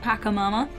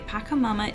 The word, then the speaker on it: Pachamama: beginning a new walkthrough i believe it's pronounced pakamama not 100 certain though and i've separated level